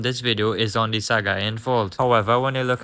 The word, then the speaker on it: Sagaing: I think that it is pronounced this as the Sagaing fault.